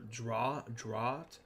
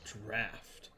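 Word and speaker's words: draught: Drought. Drought. I correct them. That's draft. I It's the But okay, hold on. I had to correct them that it's just the British spelling of draft.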